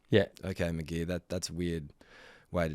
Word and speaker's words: McGee: McGee. Yeah. Okay, McGee.